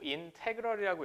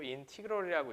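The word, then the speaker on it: integral: 늘어뜨린 이렇게 쓸 거고 인테그럴이라고 읽으셔도 되고 인티그럴이라고 읽으셔도 되고 뭐 우리가 미국인이나 영국인이 아니니까 여러분들 편한 대로 읽어 주시면 됩니다.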